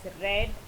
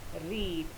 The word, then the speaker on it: read: tense and past participle, we pronounce it as read and not as read.